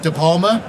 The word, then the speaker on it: DePalma: I have with me, first, I'm going to pronounce his name absolutely correctly, DePalma.